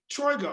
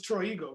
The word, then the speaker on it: Troigo: the your new project now you used to pronounce it troy go right drago yes okay i thought it was true ego but whatever i've tried before i've heard that